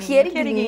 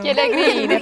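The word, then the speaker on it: Chierighini: Como é que se pronuncia? Chierigrini, né? Italiano. Chierigrini, faz a mãozinha assim para falar mesmo.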